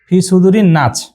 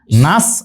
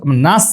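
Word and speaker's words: ناس: এখানে ইনারা কি লিখছে নাচ এখানে আসলে উচ্চারণটা কি হবে আমরা যদি সঠিক ভাবে উচ্চারণ করি হয় দুই ঠোঁটটা এখানে মাঝখানটা ফাঁকা রেখে উচ্চারণ করতে হয় এ ধরনের অক্ষর বাংলাতে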